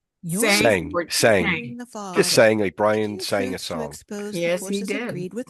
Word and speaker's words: Tseng: Brian, is your last name pronounced? Sang Brian sang a song with Margaret Flowers.